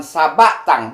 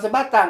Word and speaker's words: Sabatang: Kemudian Datua Perpatiah nan Sabatang, bukan Sebatang. Kalau Sebatang rokok.